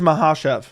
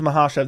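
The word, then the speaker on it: Makhachev: of knew this but I heard people pronouncing it eight different ways it is mahash it's mahash there's no K on there I know some people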